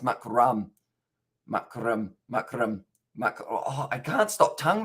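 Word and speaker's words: Markram: mac mark mark room i think it's pronounced makaram oh i can't stop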